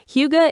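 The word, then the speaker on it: hygge: It reminds me of that Danish concept, huga. I probably pronounced that wrong, but it is all about that feeling of contentment and coziness. You got it right, Kevin. Huga is a huge influence here.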